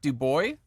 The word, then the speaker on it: DuBois: lebryk and I have with me today do boy did I pronounce that right well done Joseph oh